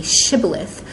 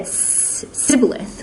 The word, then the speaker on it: shibboleth: Warring tribes were distinguished based on whether they pronounce the word shibboleth which means a sheep of wheat with the sh sound word initially shibboleth if they said sybilith within a sound word initially then they were believed to be a member